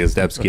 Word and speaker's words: Ezdebski: and we were talking about pronouncing your name correctly as debski and I've been practicing